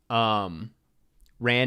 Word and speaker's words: Ran: Ran is past tense run.